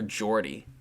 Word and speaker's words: Geordie: It's spelled Geordie for Jordy.